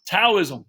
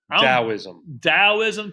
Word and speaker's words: Taoism: Taoism. Wrong. Taoism.